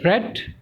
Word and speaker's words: read: the third form and we pronounce it as red then we add Buy